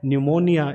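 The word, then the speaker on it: pneumonia: और तीसरा वर्ड हमारा है न्यूमोनिया, इसमें भी हमने क्या किया कि इस पी को जो है वो प्रोनाउंस नहीं किया है, ये साइलेंट हमने रखा है।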